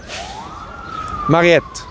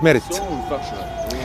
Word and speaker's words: Mariette: the excavators were French Let's say his name together Mariette Mariette, not Merit Merit is a female pharaonic name His name is Mariette